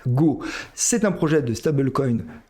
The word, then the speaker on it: GHO: AAVE, c'est le GHO, qu'on prononce à mon avis Go.